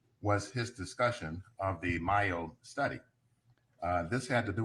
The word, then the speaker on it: Mayo: Because I'm mixing up DeMaio and Yeah, the Mayo study is M-A-Y-O. It's as though it should be pronounced Mayo.